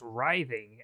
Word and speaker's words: writhing: It's actually pronounced writhing, as in rye bread.